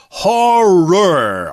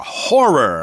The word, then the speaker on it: horror: horror or horror movies that word horror is kind of hard to say it's actually two syllables horror horror okay it's like the word for the thing you look into to see your reflection Mirror Mirror horror yeah some people even native speakers say Mir which sounds like one syllable but is what we